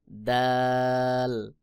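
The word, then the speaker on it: د: দাল জিহ্বার আগা সামনের উপরের 2 দাঁতের গোড়ার সঙ্গে লাগাইয়া অর্থাৎ তা এবং দাল একই জায়গা থেকে উচ্চারণ হয়। যেমন দাল, দাল।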